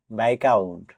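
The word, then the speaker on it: viscount: BISCOUNT বাইকাউন্ট, এই ওয়ার্ডটিতেও S letter দিয়ে silent থাকবে।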